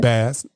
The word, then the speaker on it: Bass: Bass. That's how you say it. Bass. Excuse me, like the fish.